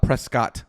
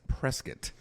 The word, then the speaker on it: Prescott: You don't know Prescott, even though Prescott is not Prescott, by the way, guys. It's Prescott. Yep. Even though phonetically that doesn't make any sense at all. No. The way it is written is definitely Prescott.